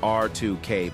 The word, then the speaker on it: Ar2K: The BSIL Electrical Panel Division is a system house for ABB Ar2K, pronounced R2K Panels, and our team